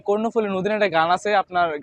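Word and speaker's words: কর্ণফুলী: ওজন হবে কয়েক টনের তো বেশি কয়েক টন কর্ণফলি নদী জানেন তো আপনারা যে কর্ণফলি নদী এ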